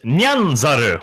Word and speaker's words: Nyanzaru: This is supposed to be pronounced Nyanzaru, which means meowing monkey.